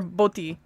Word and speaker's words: Boti: You said Bati or Boti? Boti. Boti. Wonder. Okay. Yeah. The long O, not the short O.